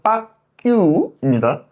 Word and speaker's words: 박학규: 발음을 잘해야 됩니다. 박학규 사장 빠규입니다. 아셨죠? 애교 있는 느낌.